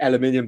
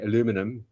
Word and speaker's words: aluminium: I most of them were aluminium back in the day, aluminum as the Americans say, but um I've got some stainless steel ones.